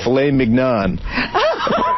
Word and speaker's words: filet mignon: how about tenderly aged filet mignon? Dick, you're an asshole. You don't say... How do you say it?